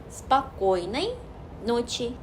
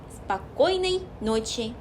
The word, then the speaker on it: spokojnej noci: 예를 들어서 spokojnej noci, spokojnej noci. 꼬의 강세가 있기 때문에 앞에는 흘려서 말하다가 꼬 찍고 또 나머지도 흘리시면 돼요.